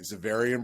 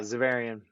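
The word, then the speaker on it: Xaverian: it uh i want to say this right zavarian brothers yeah zavarian all right so i said it right uh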